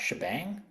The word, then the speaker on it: shebang: the first line um the hash followed by the exclamation point is usually pronoun pronounced shebang defines the shell that's